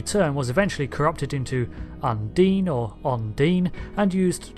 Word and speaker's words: Undine: in the game that being Undine yes I pronounced it undying repeatedly even though it's supposed to be Undine and the reason for that is simple habits